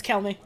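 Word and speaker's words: Chelmey: It's not Chelmy. I refuse to believe that. It's Kelmy.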